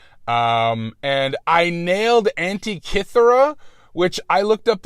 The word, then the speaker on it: Antikythera: And I nailed Antikythera, which I looked up like 5 different pronouncers that all sounded a little different, and I got Antikythera, but I didn't get zoetrope.